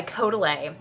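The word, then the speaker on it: Caudalie: I use is by coday it's the premier crew leix um I know I sound like a snob but I actually kind of speak French so I'm going to say it correctly uh I love coday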